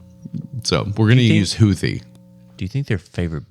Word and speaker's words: Houthi: H oh yeah so we're going to use houie do you think their favorite band is like